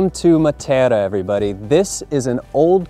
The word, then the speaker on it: Matera: Matera.